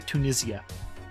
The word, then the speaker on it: Tunisia: Like it's in Tunisia, or as the Brits say, Tunisia.